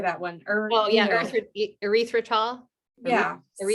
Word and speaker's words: erythritol: Oh yeah, erythritol.